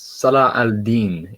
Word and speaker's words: Salah al-Din: No, not quite, because it's Salah al-Din is how you pronounce it.